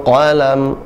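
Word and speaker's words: قلم: Bil qalam. Qa tebal. Qa. Alladzi 'allama bil qalam. Nah, jangan ditahan. Huruf lam suaranya sama seperti ain, jadi pertengahan. Hurufnya tidak tertahan, tidak bil qalam. Tidak juga tidak mengalir juga, tapi dia suaranya tengah, tawassut ya.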